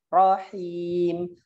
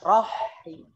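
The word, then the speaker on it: رحيم: Rahim. Coba Rahim. Jangan roh. Jangan roh. Rahim. Coba Rahim. Iya, gitu ya. Jadi jangan rohim.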